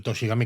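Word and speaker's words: 年神: raro no pues bueno toshi al final se escribe el primer kanji el de año el segundo el de deidad con lo cual tochigi es básicamente el Dios del año que se lee Gami precisamente porque tiene una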